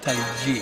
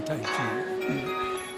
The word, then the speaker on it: Taiji: Actually, it's better pronounced Taiji. So next time you're at a cocktail party, you say Taiji, you don't say Taiji.